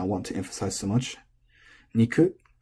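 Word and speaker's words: 肉: Niku is odaka. You say niku ga.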